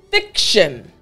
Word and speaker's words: fiction: I want to focus on the last part of this word. Fiction. Shun. It's T-I-O-N.